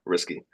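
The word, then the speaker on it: Rsky: So R sky was kind of taken already, but I wanted, yeah, risky because it's just a little bit edgy. It's close to Rust, phonetically to me.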